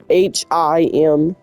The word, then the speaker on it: Himeji: It's Himeji.